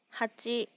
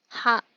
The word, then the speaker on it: 八: Nó có thể được đọc là "hachi", "ha tsu", "ya tsu", "yō" hoặc "ya."